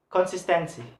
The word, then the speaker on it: consistency: ending in C word consistency consistency so the third syllable to the last one is sis so sis have a stress if going to pronounce